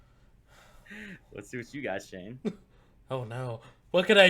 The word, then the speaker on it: Shane: yeah he's like your your name kind of want rhymes with the wayne i'm like shane wayne yeah yeah it's